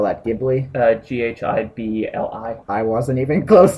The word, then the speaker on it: Ghibli: Studio Ghibli. Browser choices. And Studio... How do you pronounce spell that? Ghibli?